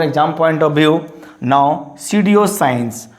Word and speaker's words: pseudoscience: Now pseudoscience, not pseudoscience.